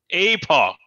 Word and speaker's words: epoch: Epoch, as in epoch. Rhymes with Ewok.